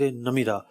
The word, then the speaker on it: نمرہ: تھا مسجد نمیرہ۔ اچھا، اس کو لوگ مسجد نمرہ بھی کہتے ہیں، تو ایکچوئل لفظ نمیرہ ہے۔ میں بڑی جو نا کوشش کے ساتھ اس کا تلفظ دیکھ کر آیا تھا، 2-3 کتابیں میں نے نکال لی اور جناب ان سے باقاعدہ تلفظ دیکھا، اعراب دیکھے۔ نمیرہ لفظ ہے، ایکچوئل نمیرہ ہے، نمیرہ ہے، میم کے نیچے زیر ہے۔ صحیح۔ تو بحر عمیق